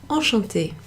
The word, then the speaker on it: enchantée: You'll notice there's an extra E there, so that's not something that makes a difference to the pronunciation, but it is something that you'll see in written forms of certain words.